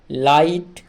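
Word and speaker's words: light: ল আকার হস্ ট লাইট এল আই লাই টি তে ট লাইট লাইট তাহলে এক্ষেত্রে যে জি এইচ টা মাঝখানে আছে এই জি এইচ টার উচ্চারণ কিন্তু হচ্ছে না এরপরে দেখো সাই এস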